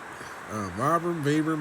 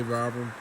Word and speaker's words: Vibram: Vibram, however you want to pronounce it. I say Vibram.